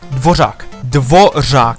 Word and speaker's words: Dvořák: The NPC's name is Dvořák.